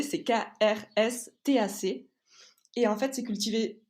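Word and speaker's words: Krstač: un vin qui s'appelle stack c'est compliqué à prononcer c'est krstac et en fait c'est cultivé donc à côté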